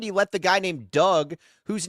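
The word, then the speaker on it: Dug: They should have brought in Signature Pest Solutions to get rid of it because Doug Doug's rhymes with bug.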